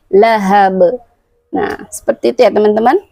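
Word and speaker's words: لهب: Di situ adalah huruf ha, bukan ha. Lahab. Nah, ujungnya adalah huruf ba lagi. Nah, ingat, ba memiliki sifat qalqalah. Tidak boleh kita membacanya lahab, tapi lahab.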